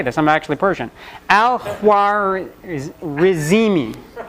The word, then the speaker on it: Al-Khwarizmi: Al-Khwarizmi, which sounds like algorithm.